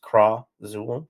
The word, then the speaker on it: Khrazul: Firstly, I'll be working on a trilogy called Pendulum of Krazul. Yeah. Krazul is spelled Khrazul, but pronounced Krazul.